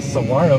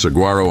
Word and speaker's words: saguaro: I mispronounced saguaro on purpose that time to upset one or two people, and I bet it worked. How you like me now? I can also pronounce it as saguaro, the proper way to say it for some. So perhaps I'm not really